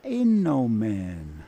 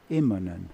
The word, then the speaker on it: Immonen: He used to introduce him as Mika Innomen. Really? Instead of Immonen.